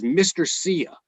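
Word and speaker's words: Mr. Cya: And the other guy is Mr. Sia, and it's spelled MRCYA, like see ya.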